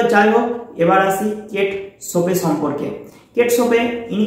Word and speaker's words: Chopin: Kate সোপে Kate সোপে নামটি দেখে তোমরা হয়তো উচ্চারণ করে বসবে কেট চুপিং বা কেট চপেন ইত্যাদি বলে তো আসল উচ্চারণ কিন্তু কেট সোপে তো গল্পটি শুরু করার পূর্বে ফস্টে আমরা অথার সম্পর্কে জেনে নিব।